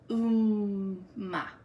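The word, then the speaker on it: Upma: So we are, the way you spell this is U-P-M-A, but it's pronounced Umma.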